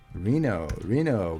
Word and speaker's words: Reno: City that rhymes with casino. Reno, casino, right?